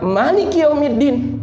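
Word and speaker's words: مالك يوم الدين: atau mengendalikan tapi memiliki kata-katai dibaca panjang dengan Maliki yaumiddin dari artinya berbeda maka bahasa arabnya juga berbeda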